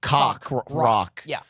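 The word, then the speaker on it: Coq Roq: can they do that it's spelled CQ R oq yep but it sounds like cock rock which is sounds like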